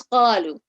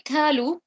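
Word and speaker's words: قالوا: The next one is qalu. So if I say kalu, kalu, pronounce the qaf in a heavy elevated way, then I have changed that to the letter kaf, which if you notice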